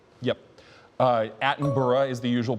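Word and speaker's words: Attenborough: That is Ava David Adenburg. I think I can take that as a reasonable pronunciation judge. Yep. Uh Atenburgh is the usual pronunciation, but that's essentially phonetic.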